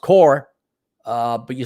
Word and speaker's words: Corps: about attending job corps and it's spelled corpse pronounced core uh but you spelled it core as an